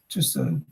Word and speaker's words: Tussaud: Tussaud. In French, AU is pronounced Tussaud.